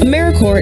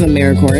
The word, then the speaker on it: AmeriCorps: make that same mistake americorps is alive and well just spelled with a silent p so think of apple core or core of the earth now that we have